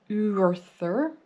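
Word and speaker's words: Urðr: It would be pronounced something like Urthur.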